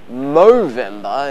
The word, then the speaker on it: Movember: charity called movember and no i didn't just mispronounce november movember is the month that